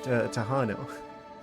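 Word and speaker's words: Tejano: Tahanu. Ah, you pronounce the J like in those jalapeno peppers.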